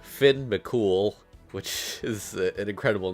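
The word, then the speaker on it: Fionn mac Cumhaill: A lot of people don't know this, but his name is actually pronounced Finn McCool, which is an incredible name.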